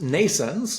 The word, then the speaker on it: NNAISENSE: So um we'll start with uh uh Nense. Is that the correct pronunciation? Or nence? It's it's pronounced nayense or like you know birth nense and um it's spelled in a different way.